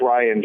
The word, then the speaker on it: Rian: it oh my god do you know how to pronounce his name though no it's Ryan John it is Ryan okay and then I